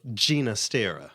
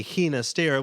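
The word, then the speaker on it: Ginastera: gina stera okay so so a lot of people expect it to be hina stera which i guess it would be phonetically but yeah you know if you've been to music school and learned about him in his heritage and what he how he preferred his name you know pronounced blah blah blah you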